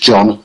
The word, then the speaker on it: Jean: pronounced that wrong joh Jean as in a female name English name Jean but it's pronounced John so j e a